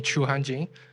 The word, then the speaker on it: Chuhan: is you can also call me Chu uh just chuhan is my Chinese first name I think it's not hard to pronounce it through your uh through your language